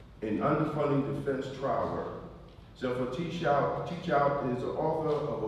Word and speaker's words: Zephyr Teachout: is Zephyr Teachout. Did I pronounce it correct?